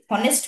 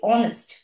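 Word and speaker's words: honest: কি আমরা হনেস্ট বলি হনেস্ট ম্যান সৎ মানুষ তাই বলি হনেস্ট বলি না এইচটা কিন্তু আমাদের এখানেও সাইলেন্ট আমরা বলি অনেস্ট অ তাই না অনেস্ট ম্যান তাহলে ও এর মত উচ্চারণ হচ্ছে অনেস্ট ম্যান তাই না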